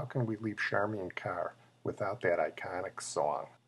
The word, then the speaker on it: Charmian: grandchilden by the way her name is pronounced charman not Charmaine charman after one of Cleopatra's servants and she pretty much